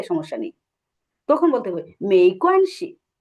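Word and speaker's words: 没关系: আমরা বলি না ওকে সমস্যা নেই, তখন বলতে হবে মেইকোয়ানসি।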